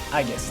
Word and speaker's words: Aigis: It is Aigis. Aigis, that's the Japanese pronunciation.